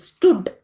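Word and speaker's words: stood: okay ಇದು ಒಂದೇ syllable ಸ್ಟುಡ್ ಅನ್ನೋದು ಇದು ಕೂಡ ಓ ಓ ಅಂತ ಇದ್ರುನು ಕೂಡ ನಾವು ಇದನ್ನ ಉ ಅಂತ ಉಚ್ಚಾರ ಮಾಡ್ತೀವಿ ಸ್ಟುಡ್ okay this is also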